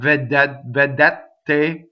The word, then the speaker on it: vedete: Vedete rhymes with sapete, all single consonants, right? Not vedete, no, vedete. So all closed. All three of those E's are exactly the same.